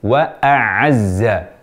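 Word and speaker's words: وأعزّ: kadang dua-duanya jadi Ain padahal yang betul wa aazza Jadi bukan wa aazza dua-duanya Ain juga bukan wa aazza dua-duanya Hamzah juga bukan menukar wa a Azza tertukar Hamzah dengan ainnya ini hendaknya diperhatikan supaya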